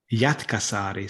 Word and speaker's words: Jätkäsaari: Jätkäsaari. So you have to pronounce every letter in Finnish. You pronounce every single letter.